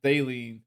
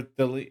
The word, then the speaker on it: Thielen: Unfortunately, and you guys traded McCaffrey, so like, and poor Adam Thielen or Thielen. How do you say it? I say Thielen, but Thielen.